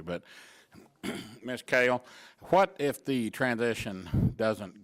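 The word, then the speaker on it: Kehl: And K-E-H-L, how are we pronouncing that? Like the vegetable, kale? Kale, okay, that's what I thought it was.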